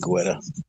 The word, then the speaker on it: Guetta: I guess the U is silent.